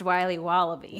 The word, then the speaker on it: Wiley Wallaby: Wiley's wallabies wallaby Wally's will be wobba beats pronounced Wiley wallaby well it's very good it's called Wiley wallaby